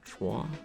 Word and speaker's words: Troyes: we've stopped in the town of trois which is spelled by troyes um and we were